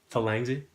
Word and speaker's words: Thalangsy: I'm sitting here with Thalangsy. Am I pronouncing that right, by the way? Thalangsy?